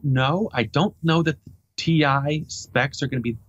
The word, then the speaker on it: Ti: or so later they'll release What's called the ti editions you'll see a little capital T little